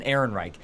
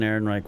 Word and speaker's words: Ehrenreich: name Alan Alden and Alden Ehrenreich yeah Alden Ehrenreich I I think he he was fantastic I really I have been burned at the stake for this I think Alden Ehrenreich was a better Han Solo than Harrison Ford